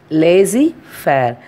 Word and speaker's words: laissez-faire: Lazy fair. The spelling is LAISSEZFAIRE, but we are pronouncing as a lazy fair.